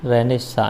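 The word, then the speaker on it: Renaissance: जाता है र निशाम इंग्लिश में स्पेलिंग पर थोड़ा सा ध्यान रखना आर ई एन ए I double S ए एन सी ई तो इसे इंग्लिश में बोला जाएगा बोलने को आएगा रेनेसा इस तरीके से बोलेंगे ओके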